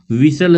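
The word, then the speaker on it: whistle: which letter are silent in the word विस्टल, इसमें कौन सा साइलेंट है, तो इसमें जो साइलेंट हो जाएगा विसल लिखा हुआ है, विसल मान सिटी, तो यहाँ पे ऑप्शन नंबर बी एच और टी क्या इसमें साइलेंट हो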